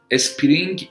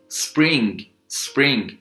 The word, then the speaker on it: spring: یعنی مثلا spring من نمیگم اسپرینگ، spring summer autumn وینتر شد زمستان، spring شد بهار، summer شد تابستان و autumn شد پاییز.